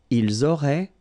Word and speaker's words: ils auraient: Ils auraient, so liaison here. Elles auraient. And then look, if you've got A-I-E-N-T, then phonetically it goes like aurait. Okay, so phonetically you've got